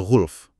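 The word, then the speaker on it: غُلْف: Ini yang paling umum, didukung mayoritas qiraah, bacanya ghulf, lamnya sukun.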